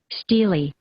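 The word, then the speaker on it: stelae: That's the official pronunciation of the plural form steely. And here's the singular form. Stila. So Stila is singular. Still is plural. Here it is once again. Stila. Stila. Singular. Steely. Steely is plural.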